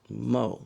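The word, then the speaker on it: Maux: M A U X M- AU X and pronounced Mo.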